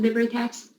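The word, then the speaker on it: LibreTexts: We had they do LibriText. Is that how you pronounce it? LibriText.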